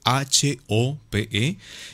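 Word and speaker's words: Hope: lo dice Juan Sebastián, se escribe H-O-P-E y se pronuncia HOP.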